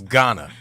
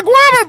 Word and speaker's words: Ghana: And as my brother, I will not let you continue to live life and see that on the map and pronounce it that way. It is Ghana. Ghana.